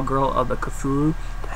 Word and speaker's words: Cthulhu: He directed one of my favorite films of last year, and that was The Call Girl of the Cthulhu.